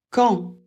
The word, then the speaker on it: quand: On ne prononce pas le D, sauf quand il faut faire la liaison et là il faudra le prononcer comme un t.